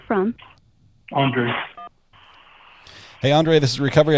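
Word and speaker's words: Andrei: or read it it's a-n-d-r-e-i so I'm just going to give you a hint when you try to say my name just just think of Andre the Giant Andre the Giant okay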